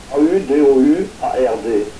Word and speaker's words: Audouard: Qui s'écrit O-D... A-U-D-O-U-A-R-D. A-U-D-O-U-A-R-D, c'est la prononciation.